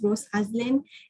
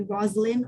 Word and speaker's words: Rose Aslin: a very complicated name my name is rose aslin and people call me roslyn all the time or rosslyn all the time and